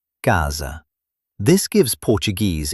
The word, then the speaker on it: casa: Sometimes S between vowels sounds like j, like the sound in measure. For example, casa, casa.